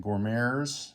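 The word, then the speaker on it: Goumiers: And we have the Moroccan Gourmets, that's how you say it, which will be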